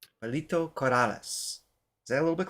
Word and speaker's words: Pilita Corrales: Palita Corales. Palito Corales. Is that a little bit closer? Corales. Yeah. Palita Corales.